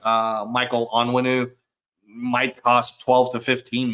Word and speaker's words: Onwenu: able to pick up someone like Michael Owen. I hate that I say his name wrong. Onwenu is his name.